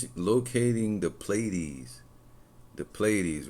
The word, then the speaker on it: Pleiades: locating the Pleiades.